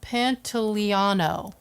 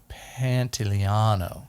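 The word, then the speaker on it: Pantoliano: pants and carrion moss what's his last name pantaliano panteliano yeah he's italian i don't know if we pronounced that right what panty panto liano yeah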